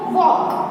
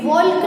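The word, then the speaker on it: walk: फिर हम देखें तो वॉक, इसमें भी वॉल्क नहीं बोलेंगे, ल है एल है उसका कोई साउंड नहीं निकालेंगे, सो यहाँ पे एल है वो साइलेंट है।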